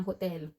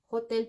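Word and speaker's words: hôtel: In French, we have the same spelling ng hotel. Hotel pa rin siya. H O T E L. Pero ang pronunciation niya in French is hotel. Hotel. Silent H.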